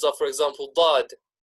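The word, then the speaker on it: ض: From the heavy letters are, for example, dad. Dad. You can already hear that it almost suits the name. You can tell that it should be a heavy letter.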